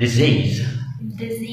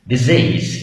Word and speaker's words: disease: ما فيش حاجه اسمها disease، اسمها disease. Disease. يعني الاثنين اس بتنطقوا زي disease.